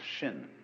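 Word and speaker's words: 心: Chinese mind is um this word pronounced shin and shin is here Shin is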